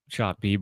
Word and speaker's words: Bieber: Is it Bieber or is it pronounced differently? I think it's Shane Bieber.